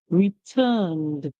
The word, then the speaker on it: returned: word return returned returned remember it ends with the letter n and it's a song that we can hear so therefore we use the sound for the E so we'll hear return return returned when you return so